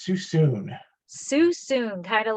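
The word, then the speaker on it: Suisun: want to officially say the correct way to say it it is too soon soon kind of like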